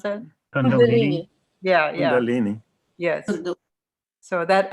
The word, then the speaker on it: Kundalini: How do you pronounce that? Kundalini.